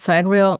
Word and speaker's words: sidereal: I don't know what the right way is. I say cidurial but if you feel called to call it side reel I think that's that's fine.